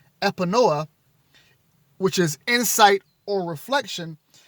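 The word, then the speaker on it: Epinoia: spell that e-p-i-n-o-i-a i'm going to pronounce that epinoa which is insight or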